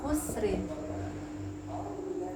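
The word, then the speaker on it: خسر: Kita mau berhenti di khusr, kira-kira bacanya tebal apa tipis? Lihat, ini sukun, sebelumnya sukun, mati sebelumnya dhammah, maka dia bacanya tebal. Jadi bacanya khusr, innal insana lafi khusr.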